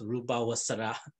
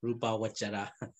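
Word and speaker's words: rūpāvacara: Pali pronunciation, you know, in Myanmar, we pronounce Rupa Vasara, Rupa Vasara, but actually actual pronunciation, Pali pronunciation, must be Rupa Vajara.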